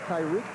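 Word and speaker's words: Tariq: And carrying it out of bounds, Tyreek Wilson. T A R I Q pronounces it Tyreek.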